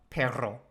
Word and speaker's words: perro: Perro. I'm not very good with the rolled R.